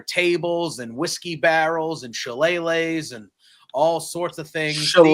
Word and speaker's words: shillelagh: This was as good as the other ones, but it had weaponry and there were tables and whiskey barrels and shillelaghs and all sorts of things.